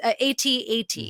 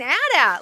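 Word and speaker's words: AT-AT: kid as you mentioned like they would say at at in the commercial however when I started working for lucasfilm as a contributor um and hosting they told me you need to pronounce it ATS atat and I was like what they corrected my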